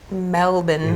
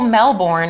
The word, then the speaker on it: Melbourne: - Well Melbourne is what it looks like in American but they call it Melbourne. - Melbourne. - Yeah. - So we got to do the Melbourne Comedy Festival together.